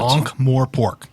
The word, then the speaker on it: Ankh-Morpork: I'm sure you just totally mispronounced that, and we're going to hear about it on the internet. Ankh-Morpork.